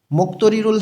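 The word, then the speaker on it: 목도리를: মুক্তরিরুল হাদা মাপলার পরা, গিয়কের পরে দ আছে, এই দটা ত উচ্চারণ করতে হবে।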